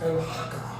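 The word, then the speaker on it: Al-Haqqah: It is pronounced al haka but the prefix of it or the root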